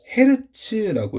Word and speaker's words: 헤르츠: 그래서 여기 나오는 단위가 헤르츠라고 읽고요. HG라고 쓰는데요.